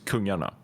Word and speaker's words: Kungarna: By the way, it's the wrong pronunciation of the team originally because it's Swedish for king. Yeah. And the pronunciation is Kungarna.